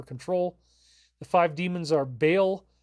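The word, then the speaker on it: Bael: the five demons are Bale which he calls ball in the show interestingly enough I've used that pronunciation too asmodus Leviathan Lilith and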